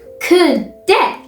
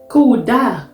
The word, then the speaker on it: kudde: Kudde. Kuda. No. That is not what I said.